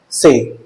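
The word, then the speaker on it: ces: In French language we have four demonstrative adjectives, namely se, set, say. Second और third demonstrative adjective का pronunciation is one and the same as set.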